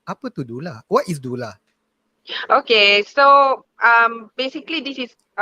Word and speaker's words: doula: the pronunciation is on the second consonant U kan, D-O-U. So Dula sebenarnya dia bukan Dola ke Dola.